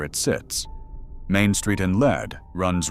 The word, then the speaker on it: Lead: It is not lead, like the metal. It is Lead, pronounced lead, and named for a vein of ore.